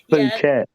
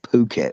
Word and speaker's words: Phuket: Phuket. I'd pronounce it with the F word. Yeah, you know, Martin, my mate Martin, who went down there, was calling it Phuket for ages.